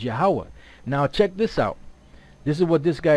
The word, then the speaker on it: YAHAWAH: gadites that were here they pronounced the name of the most high yo y y y ywa which is close to the most High's name right which is yahawah now check this out